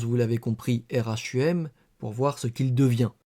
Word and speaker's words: rhumb: D 1765 dans un traité d'horlogéographie le mot Rome Rhumb devient en français Rome rhum puisque de toute façon le B ne se prononce pas.